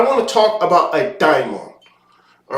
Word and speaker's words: daimon: to talk about a diamon all right and not just a demon sometimes you'll hear it pronounced Damon all right with the D AE or the d a i okay English language vowels